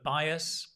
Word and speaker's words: bias: some of those words bias it's pronounced I by bias bias remember what we said about pronunciation slow down bias bias there's a y bias bias bias slow